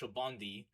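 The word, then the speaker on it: Sabaody: But once you got to everybody's told me it's pronounced Shobondi.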